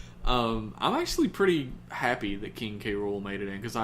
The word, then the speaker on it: King K. Rool: I love King K. Rool. Apparently, they asked the guy on Twitter today who named him how to pronounce it, and he said King K.